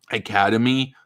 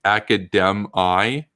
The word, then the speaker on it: Academi: They changed their name to Academy a long time ago, and one of the professors wanted to sound, I guess, different than the mainstream. She called it Academi, and I'm listening to this. And I'm like, do you know? I'm just thinking in my head. I'm like, do you know that's not the right pronunciation?